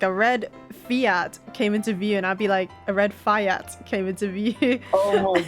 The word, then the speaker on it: Fiat: No one said anything until I was just like, "Is it actually pronounced Fiat or Fiat?" And then Kos was just like, "It's Fiat."